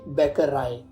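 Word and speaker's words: Bäckerei: हमारा दी बैक राय ए के ऊपर उमल आउट है तो इसकी साउंड ए होएगी और यह बनेगा दी बैकर राय जिसका इंग्लिश में मतलब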